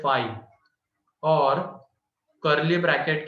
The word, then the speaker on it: phi: ठीक है, and it is denoted by phi, इसको प्रोनाउंस करते हैं phi, और कर्ली ब्रैकेट के अंदर में कुछ भी नहीं।